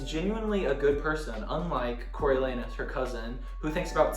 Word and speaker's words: Coriolanus: Coriolanus. Just think anus.